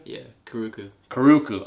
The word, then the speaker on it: Karuku: Yeah, Karuku.